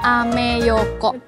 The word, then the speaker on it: Ameyoko: Bacanya ameyoko.